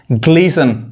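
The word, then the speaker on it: glisten: उसी तरह देखिए फासन, TEN आ रहा है, टी नहीं पढ़ाएगा, फासन बांधना, ग्लीसन चमकना, ऑफन प्राय, मॉइसन गीला करना।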